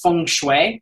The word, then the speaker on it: feng shui: did I always say it wrong, but it's feng shui. It's a certain type of interior design. So I was just going A, B, C, D, E, F, and I hit F, and it's like feng shui.